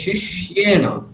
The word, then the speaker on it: शिष्येण: तव शिष्येण धीमता হ্যাঁ, এখানটা দেখুন, তব শিষ্যেন, ওখানে আপনি শিষ্যেন বলছেন, শিষ্যেন নয়, শিষ্যেন এটা ভুল, ওটা কি বলতে হবে, শিষ্যেন, শি এ, শিয়ে, এরকম একটা মনে করুন, তাহলে সুবিধা হবে।